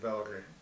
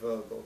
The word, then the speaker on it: Wörgl: And I actually grew up in the Tyrol, in a place called Wörgl, which is near Kufstein. How do you spell that?